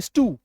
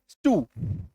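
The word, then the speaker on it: stew: यू उ दोनों का साउंड काफी सिमिलर है। ठीक है? जैसे स्टू एस टी ई डब्ल्यू स्टू clear है?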